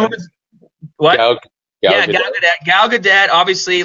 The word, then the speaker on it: Gal Gadot: I always say her name wrong. Which The one? one- What? Gal Yeah, Gadot. Gal Gadot.